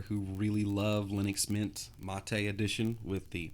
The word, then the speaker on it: MATE: folks out there who really love Linux Mint mate' edition with the mate' desktop yeah I know it's spelled mate but it's pronounced MOT a long